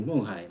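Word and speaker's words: 勐海: 그 바를 제가 이제 거기 있으면서, 제가 운남성 맹해라는 곳에 있는데, 맹해의 중국어 발음이 멍하이, 멍하이 그럽니다.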